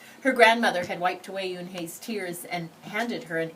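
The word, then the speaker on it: Unhei: It's spelled U-N-H-E-I. It's pronounced Eun-hye. Oh, it's you-hey, the boy said, like you-hey.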